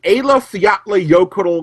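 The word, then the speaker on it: Eyjafjallajökull: you out with this the pronunciation of this volcano thanks to the icelandic embassy is AFV ottley yokel the a lefty Utley yo cuddle glacier folks market that's something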